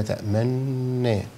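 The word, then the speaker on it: تأمنّا: تمام فده بعد الحرف وفي اشمام مقارن او مصاحب لنطق الحرف اللي هو في كلمه تامن ما لك لا تامنا فمع النون اضم الشفتين هذا هو الاصح والافصاح مام عندي نوعه هنا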